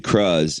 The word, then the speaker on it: Cruz: Her name's Penelope Cruz, if you want to say it correctly. It's just Cruz.